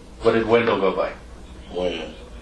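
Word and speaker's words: Wynn: Win. Win? Or Wen? Win. Win. W-E-N or W-I-N? W-Y-N-N. W-Y-N-N. Okay.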